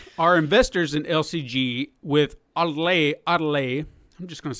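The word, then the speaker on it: Ottile: Now, the two main players behind this acquisition seem to be Jamie Otel. God damn, these people's names. Odile. Let's just say his name is Odile. That's the O-T-T-I-L-E. Odile.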